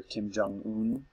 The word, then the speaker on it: Kim Jong-un: it's with its with the North Korean leader Kim jong-un that's how you say his name and Seth